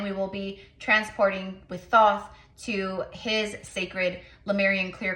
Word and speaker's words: Thoth: Some say Toth, Toth, Thoth. The way he told me to say it is Thoth. Okay, so that's how I'm going to pronounce it.